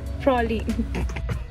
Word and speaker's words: Praslin: इसमें देखो 18th August 2015 Praslin. Prolin. Spelling कुछ और होती है और pronunciation कुछ और होती है.